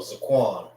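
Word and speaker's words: זקן: So Zaquan. Zaquan is Zaquan. Zaquan. Za making one sound, and Quan making another one sound.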